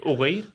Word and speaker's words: Uyghur: Did I pronounce that right? Uyghur? What did you say? Uyghur?